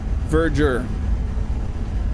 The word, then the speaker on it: Verdure: Verger according to the interwebs. So yeah we are saying it wrong. I have a video where I said it completely wrong. So, it's Verger.